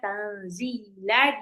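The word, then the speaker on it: تَنْزِيلَ: Tanzila nun sukun ketemu zai itu adalah ikfa. Jadi nunnya harus samar. Enggak boleh tanzila tapi ditahan. Tanzila nunnya kayak mau lompat ke zal.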